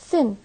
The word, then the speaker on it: thin: مثلا The word thin is written with 4 alphabetic symbols or alphabetic letters T, H, I, N, while it is pronounced only by 3 phonemic symbols Th, I, and N.